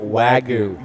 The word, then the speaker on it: Wagyu: Wagyu.